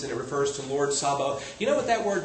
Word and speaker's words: Sabaoth: It looks like they misspelled it and they put an O in there, and it's Sabaoth.